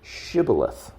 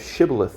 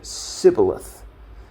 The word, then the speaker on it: shibboleth: at the river would ask the individual to pronounce the word shibboleth. The Ephraimites, apparently due to their native dialect and way of speaking, pronounced the word incorrectly or differently. They would say, instead of shibboleth, they would say sibboleth, which would give away